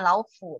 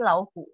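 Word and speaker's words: 老虎: Yang benar membacanya bukan laufu, tetapi lauhu. Ini bacanya pakai H ya, nggak pakai F ya.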